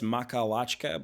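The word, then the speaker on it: Makhachkala: I keep saying Dagestan. I know it's Makalachka, but you can't expect me to pronounce that every single time.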